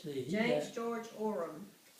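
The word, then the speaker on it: Oram: Orem, How do you spell that? O-R-A-M. It's phonetic. Orem.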